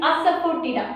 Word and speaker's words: Asafoetida: That this is the pronunciation is Asafoetida, Asafoetida, Asafoetida.